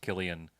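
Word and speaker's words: Cillian: don't realize that like people spell names like Killian or you know like killing Heinz like or Killian Murphy yeah yeah I learned I learned that was pronounced Killian this week right that's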